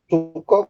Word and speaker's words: Sooko: Suko, Pak. Gimana? Suko. Oh, so apa? Sooko itu Suko, Pak. Suko. Tulisannya S O K O itu ya? Iya. Yang O-nya doble. Iya. Oh, bacanya suko.